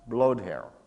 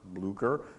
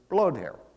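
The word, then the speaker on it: Blücher: proper German pronunciation is blowed hair and the way I remember that it's really quite simple I just think of President Trump in a windstorm and that's how I I remember blow tear so Napoleon's strategy is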